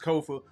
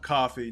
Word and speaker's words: Kofa: Once again, I am your humble host, Kofa, K-O-F-A. Not coffee, not kufu, not Kofi, or any variation thereof. Kofa rhymes with sofa. Easy to say, easy to spell.